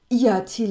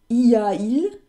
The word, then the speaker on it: y a-t-il: Das T, was macht denn das da? Das ist rein zur Aussprache hier mit eingefügt. Das heißt, y-a-il würde für französische Ohren doof klingen. Für meine auch. Y-a-il, das ist... Klingt nicht schön, man nennt das einen Hiatus, einen Gähnlaut.